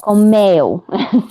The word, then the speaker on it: comeu: Comeu. Comeu. Tá ótimo. Comeu. Comeu. The U here is weak, so the stress is actually the E sound.